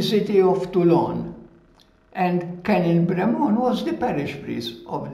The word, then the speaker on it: Brémond: Brémond, it's a French surname, Brémond, B-R-E, accent aigu, M-O-N-D, Brémond. As you know, in French, we don't pronounce the last letter.